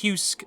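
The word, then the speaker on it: Heussc: ai program named husk h-e-u-s-s-c uh uh pronounced husk but for the sake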